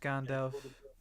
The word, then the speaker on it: Gandalf: It is pronounced Gandalf.